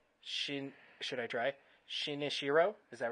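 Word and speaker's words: Shinichirō Watanabe: the director I'm not even gonna try to pronounce that first name she should I try sheena Shiro is that right shin oshiro correct uh Watanabe yep okay got that right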